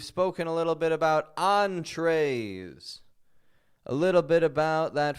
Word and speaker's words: entree: You want to make sure when you read your menu, you don't say entry. Entry. The entry, well, that's the door. That's the entry. We want the entree. That is your main course.